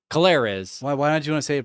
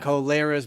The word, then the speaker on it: Colares: Colares. Why don't you want to say it properly? Clarice. Clarice was down there. Colares. Colares. Down there in Colares. Colares, right? Brazil.